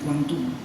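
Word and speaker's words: Guangdong: ginjak di taiping kuangung tulisannya guandong Tapi bacanya kuantung Cina Timur ya 1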